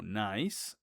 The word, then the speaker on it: nice: recordando el tema eh o la regla que les dije, que toda palabra en el inglés que termine con e, la e va a ser muda.